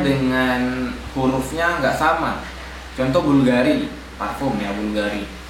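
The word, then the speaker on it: BVLGARI: Contoh Bulgari, parfum ya, Bulgari. Bulgari itu kan U-nya V ya. BV L Gari ya, Bulgari.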